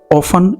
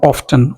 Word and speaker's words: often: said the birth often can be pronounced with either a silent T or with the t means often and often both are correct you